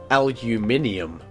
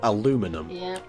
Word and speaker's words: aluminium: schools to be like this is how i pronounce it aluminium yeah not aluminum oh that's a piggly tiny